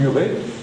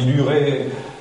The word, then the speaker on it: Hurets: Je dis bien les Hurets, même si je mets l'H devant, même si la prononciation, on dit l'Huret, un tel, à Aurigny-en-Tirage par exemple, vous avez des Hurets qui sont des talus.